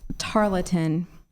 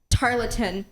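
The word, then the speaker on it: tarlatan: judges is I'm at 228 your word is tartin tartin may I have the definition please a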